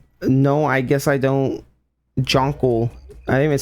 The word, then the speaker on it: Jonkle: Jonkle.